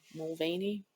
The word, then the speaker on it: Mulvaney: about waiting Bud Light over Dylan Mulvane Dylan Mulvaney is that how you say her name yeah